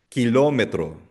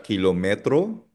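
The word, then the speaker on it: kilómetro: Ang basa nila dito ketchup o salsa de tomate kilometro. O listen na hindi siya kilometro. Kilometro kasi may accent mark sa letter O.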